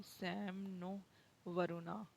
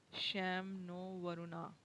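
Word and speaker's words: शं नो वरुणः: Indian Navy contain the motto Sam no Varuna, pronounced Sham no Varuna, which mean be auspicious to us, O Varun.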